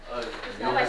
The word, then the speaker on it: Euler: Euler's number. Yeah, it's pronounced Euler's.